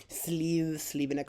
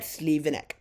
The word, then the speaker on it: Slivenec: Alright, I'll see you at Slivenec. Alrighty, welcome to Slivenec. Yeah, I kept mispronouncing Slivenec as Slivenec. I think at one point I heard a tram announcement, and then I corrected myself.